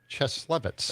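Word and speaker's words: Cieslewicz: How do you say it? Cheslevitz.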